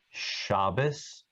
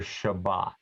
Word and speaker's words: Shabbat: And that's why you hear the word Shabbos or Shabbat, because Ashkenazim pronounce this letter without a dot as an S sound.